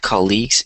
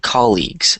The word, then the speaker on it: colleagues: common um so here instead of saying colleagues it's colleagues so the stress is in the first syllable so here it's just